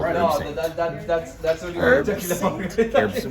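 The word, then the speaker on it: Herbsaint: with an anisette called herb saint. That's what you're talking about. Well, it's probably the proper pronunciation is herb saint because it's French.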